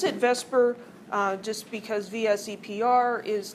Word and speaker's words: VSEPR: on the arrangement of the electrons so we pronounce it Vesper just because vse PR is tedious and valence shell electron pair repulsion theory is also tedious to say so we call it Vesper theory but it's based on the idea that